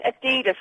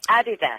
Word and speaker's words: Adidas: right uh yeah but will you stop saying Adidas cuz it's not it's Adidas T what will you